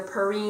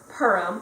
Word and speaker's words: Purim: the pronunciation you know there's a couple of different ways that people say it either pari or Purim so yeah it's really